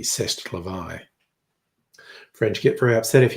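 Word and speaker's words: c'est la vie: Say laie, as the saying goes, or as the French pronounce it correctly, cestavi.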